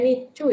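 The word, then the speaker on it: 日中: Nichu di sini itu bacanya nichu ya.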